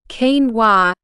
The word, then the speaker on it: quinoa: point and packed with nutrition pronounced kenoa yes it's a bit